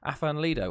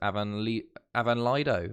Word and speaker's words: Afan Lido: and I settled on Afan Lido, or I think the correct pronunciation is Avan Lido, I think.